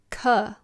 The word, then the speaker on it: Ka: Ka, like cuddle, cousin.